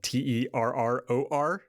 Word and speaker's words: Terror: a word that is spelled t-e-r-r-o-r e-r-r-o terror terror right when i say it it just sounds like t-e and then a bunch of ours terror terror terror terror terrorism